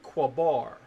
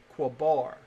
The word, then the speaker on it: Qabar: We inherently, and the theologians, their research supports our glyphs have a short a sound in between them, and this will be Qabar. Qabar.